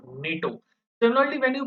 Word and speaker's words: NATO: Now, how do you pronounce NATO? Do you pronounce it NATO? No, you pronounce it as a single word, NATO.